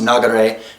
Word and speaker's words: nagare: So the kanji that we see for Ryu as school can also be pronounced nagare, meaning stream or flow.